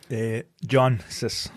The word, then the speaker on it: Jancsics: Jancis. Jancis. It's spelled Jancisc. Yes. But the C's are silent. Okay. So it's just pronounced Jancis.